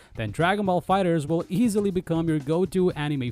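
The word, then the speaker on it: FighterZ: to Dragon Ball fighters yes we're pronouncing it as fighters and not fighters Z because bond I Namco confirmed the correct pronunciation of the game's title this 2.5 D anime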